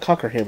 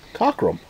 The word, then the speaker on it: Cockerham: It's actually not Cockerham, it's Cockrum. Ain't it? Yeah, it's Cockrum, but if you read it the way it's wrote, it's spelled Cockerham.